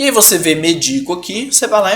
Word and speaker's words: medico: o verbo medico, eu medico, que é uma paroxítona, tá? Porque a sílaba tônica de médico é me e a sílaba tônica de medico, então você pensa eu medico, é o di, tá?